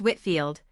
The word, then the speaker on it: Whitefield: 79, George Whitefield, pronounced Whitfield, 1714 to 1770, a celebrated English clergyman and pulpit or one of the founders of Methodism.